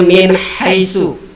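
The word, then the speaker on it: مِنْ حَيْثُ: Ada nun sukun bertemu dengan huruf ha. Nah, makanya dibacanya harus dengan jelas. Min haitsu. Nunnya dibaca jelas dan tidak dengung.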